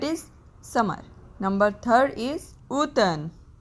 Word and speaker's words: automne: Number third is automne, M is silent here, that is autumn.